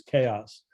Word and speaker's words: Kaos: I thought it was Kaos like Taos, and no, it is Chaos.